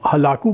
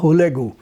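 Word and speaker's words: Hülegü: اس نے اپنے کزن جسے ہم ہلاکو کہتے ہیں، اصل میں نام کا تلفظ منگولین میں تھا ہولیگو، تو ہولیگو سے اس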